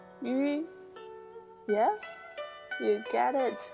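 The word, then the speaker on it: ü: And the trick is, you need to pronounce E first, the really wide mouth. E, E. And when you pronounce E, just keep pronouncing and draw the two corners of your mouth together and make it narrower and smaller. And then at last you'll get the U sound.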